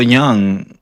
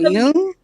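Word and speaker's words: Jung: It's called Yung, but go ahead.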